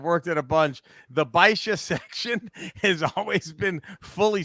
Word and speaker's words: Basia: That's how he pronounced it. It's Basia. Basia. Baisha. He said Baisha.